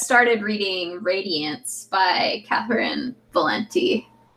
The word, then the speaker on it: Valente: I just started reading Radiance by Catherine Valenti. Is that how you say her name? Yeah, I think it's Valente. Sounds good. I think I heard John Green say it like that once at some point.